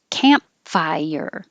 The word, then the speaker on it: campfire: refi your fire works campfire we don't have to say camp don't release the p camp just close your lips campfire and then we